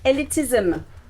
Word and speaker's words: elitism: it yes um so elitism elitism the ending of the word ISM two syllables elitism all the word in ISM ISM okay all right uh Char